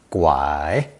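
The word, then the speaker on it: 拐: in two overlapping characters both pronounced third tone gwai today the wood radical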